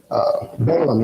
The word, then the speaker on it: Balaam: And they, Balaam, I think I'm saying that right. Balaam, yeah, I said that right.